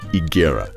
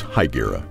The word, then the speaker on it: Higuera: is now modern-day Arizona the name is correctly pronounced igera but locals changed the pronunciation and today it's known as haera the haera settled in California's First Pueblo San